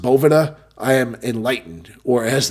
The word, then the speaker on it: Boveda: and now that I know that it is pronounced Bhavana I am enlightened or as the kids would